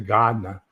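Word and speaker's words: Gardiner: wedding was from uh Garder although he pronounced it Gardner uh Maine and he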